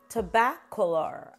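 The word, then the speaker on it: Tobacolor: is to bath Galore tobaccular I believe is how you say it another one from the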